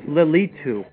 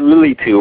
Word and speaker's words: Lilitu: name of Lilith was lilitu yes that's what I was mentioning Li I said lilu right yeah I mispronounced it a little bit no no you did